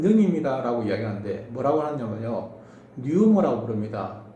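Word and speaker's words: pneuma: 이번에는요, 하나님은 거룩한 영입니다 라고 이야기하는데 뭐라고 하냐면요, 뉴머라고 부릅니다. 원래 뉴머는 피가 발음이 안 되는데요, 불어넣어 모아라는 뜻입니다.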